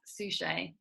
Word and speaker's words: Suchet: do i pronounce it it's suchet that sounds french but it's not it's from south africa originally it's a beautiful